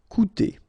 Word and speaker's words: coûter: if you've got this accent circonflexe on the top of U, it doesn't change the pronunciation, so it doesn't change this combination of two vowels here, so it will be OU. Okay, coûter.